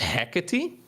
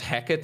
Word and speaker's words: Hecate: Yeah, so according to Google, the map is pronounced Hecate. If you put this name into Google Translate, that is how you're supposed to pronounce it, but it sounds so bad to me. So I'm kind of leaning towards Hecate instead, even though I think it's incorrect.